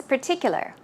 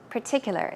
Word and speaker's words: particular: ter purr purr and in this case there is no R sound it's a puff puff